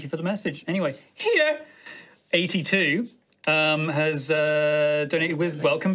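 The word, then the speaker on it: Hiei: Has donated with Welcome Back, High Rollers. Can you say that name again? Here. It's H-I-E-I. How else would you pronounce it? Of course. Hi. Hi. Do the first one again. Here. That's the one.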